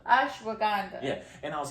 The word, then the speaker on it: ashwagandha: Ashwagandha. Ashwagandha.